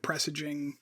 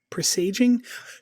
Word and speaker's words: presaging: Star Trek with pressaging presaging is that I need to look up how that word is pronounced if I'm gonna keep saying it um I don't I don't think I would I don't think it's appropriate to credit Star Trek with that I don't think that seems reasonable oh they're both pronounced pronunciations are okay okay well I'll use